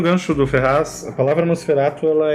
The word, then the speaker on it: Nosferatu: Que seria Nosferatu. A pronúncia original, se não me engano, seria essa.